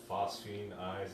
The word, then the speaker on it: Phosphine Eyes: She's in a band called Phosphine Eyes.